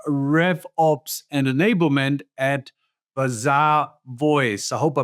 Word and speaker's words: Bazaarvoice: Yes, it's Bizarre Voice. like bazaar, like a shopping bazaar.